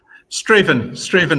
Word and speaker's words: Strathaven: Colin, you're famous, I should say, for featuring on Grand Designs and for running Strathaven, which is that Strathaven? How do you pronounce it? Strathaven is how it's pronounced around here.